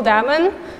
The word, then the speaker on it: Damen: for me so again my name is diamond rhymes with Matt Damon's not Matt Damon unfortunately